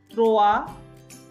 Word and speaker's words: trois: So zero the, no, it's not like do, it's not do, it's the, like half o, the trois, s is silent, trois, quatre, cinq, six, not